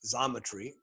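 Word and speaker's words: Xometry: venture funded fictive fictiv still another is zometry spelled with an x an ems variant is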